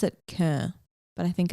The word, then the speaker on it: Köln: called Boots House in a city called, they pronounce it Köln, but I think it's Cologne.